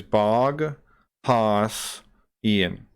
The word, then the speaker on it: Boghossian: Peter but barkozy and which is bog pass Ian or bog h-o-s-s-i-a-n just look that up just